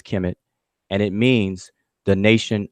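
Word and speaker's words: Kemet: scholars these five glyphs is transliterated as KMT we pronounce it as Kim it and it means the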